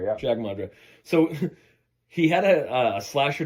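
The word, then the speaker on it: Jag Mundhra: So director Jag Mundra, is that how you pronounce it? Jag Mundra, yeah. Jag Mundra.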